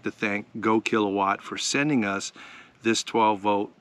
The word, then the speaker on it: GoKWh: time it comes from a company called go kilowatt that's spelled g kwh right here and this batter's